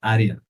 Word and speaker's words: Aryan: It's Aryan. Aryan. Aryan? Aryan. Aryan. Okay. Are you rolling the R? Is that? Yeah.